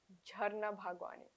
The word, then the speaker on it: Jharna Bhagwani: The perfect version is Jarna Bhagwani.